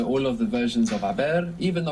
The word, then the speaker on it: haber: gone, in Spanish it's haber. Haber, H-A-B-E-R. And of course we have a silent H there in haber.